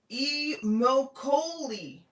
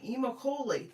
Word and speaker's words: Immokalee: Robert says, "Actually, it's pronounced Immokalee, Florida, in Collier County." Immokalee.